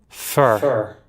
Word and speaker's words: pho: you're in la check out fa vt it's pronounced far right far let's see hold on i can't hear it do i have it muted uh oh fur fur oh that was pho this says fur